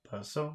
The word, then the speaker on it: paso: So, paso, that's the second syllable. Number 4. Paso. Paso. Paso, paso, that's the first syllable.